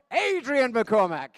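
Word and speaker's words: Adrian McCormick: over again as we give it up for Adrien McCormack. Thank you, Desmond. It's really nice that someone's pronounced my name correctly actually because I live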